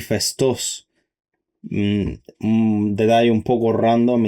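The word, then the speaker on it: Phaistos: En realidad se pronuncia nosos y festos.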